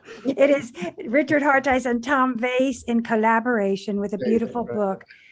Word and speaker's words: Veys: That is Richard Hareis with Tom Veys, the translator.